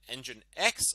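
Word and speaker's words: nginx: And engine X also doesn't seem to be affected by this.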